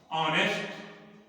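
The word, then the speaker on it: honest: जब किसी भी शब्द की शुरुआत यच से होती है, किसी भी शब्द की शुरुआत यच से होती है और यच साइलेंट होता है, अर्थात यच साइलेंट मीन्स शांत, शांत मीन्स बोल नहीं जाता है।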